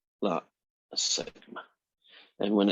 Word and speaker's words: sigma: And we pronounce that as sigma.